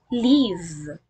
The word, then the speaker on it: live: If this word means to remain alive and functions as a verb, this is pronounced as live. Live.